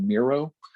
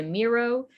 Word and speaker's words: Miro: so um there's also mural m-u-r-a-l which sounds entirely too close to miro you have to pronounce it awkwardly different but yes and then